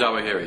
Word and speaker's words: Zawahiri: And do you pronounce that Zawahiri? Isn't it spelled Zawahiri or not? Zawahiri, yeah.